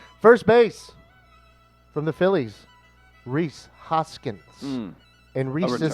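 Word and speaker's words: Rhys: First base from the Phillies, Reese Hoskins. And Reese is spelled R-H-Y-S.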